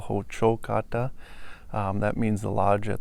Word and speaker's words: Hocokata: The name of the building is Hocokata Ti, stress on the second syllable, Hocokata.